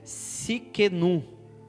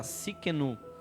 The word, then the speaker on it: Tsidkenu: muita dificuldade de aprender, mas é Tsidkenu. Eu acho que é a maneira mais simples de você pronunciar, Tsidkenu, Jeová Tsidkenu, que significa o Senhor é a nossa justiça.